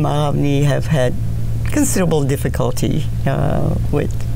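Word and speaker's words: Aghavny: my name got changed My baptismal name is Aravni, which is spelled A-G-H-A-V-N-Y, and mispronounced even in Bulgaria because it was so unusual and difficult.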